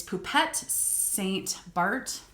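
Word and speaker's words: Poupette St Barth: the comps with this it's poupet saint bart right the h is silent um yeah i'm really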